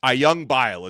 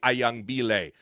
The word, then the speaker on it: Ayangbile: I realized I had been pronouncing his last name wrong for the last couple of weeks. Ayangbile is how you say it. I had been saying Ayangbile, but Ezequiel Ayangbile has chosen the Miami Hurricanes,